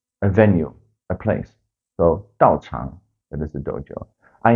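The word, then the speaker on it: 道场: where you practice, that place is called the 道场. 道场. Dao means the way, as in the do, taekwondo or karate do, judo. The chang is a venue, a place. So 道场, that is the dojo.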